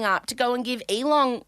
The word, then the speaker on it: Elon: my Aussie twang elong you're adding a g at the end but that's fine how do you say it Elon you have to put effort in okay all right don't put the effort in on the on the hard end yeah okay okay Elon